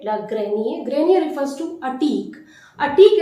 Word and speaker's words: grenier: R is completely omitted. Le grenier.